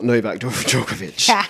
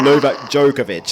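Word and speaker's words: Novak Djokovic: server who's that and it's not Noak jokovic or Noak jokovic as the Americans say I love I love how the Americans say Jo jovic but yeah Novak has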